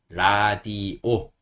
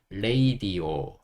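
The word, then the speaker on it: radio: 쓰면 됩니다 그래서 이게 라디오 그죠 여기가라 디 오 되는 건데 이것도 사실 원어민들 읽을 때는 라디오라고 읽지 않고 레이디오 레이디오 읽어요 근데 지금은 뭐 거기까지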